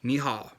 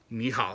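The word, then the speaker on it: 你好: It's ni hao, right? Ni hao. It's not ni hao, it's ni hao. Get those tones right, right? Ni hao. Ni hao.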